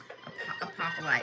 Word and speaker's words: apophyllite: Y'all also have, apparently I spelled it right, apophyllite.